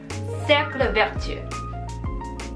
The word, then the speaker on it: cercle vertueux: 발음 한 번 더 해볼게요. 악순환 cercle vicieux, 선순환 cercle vertueux.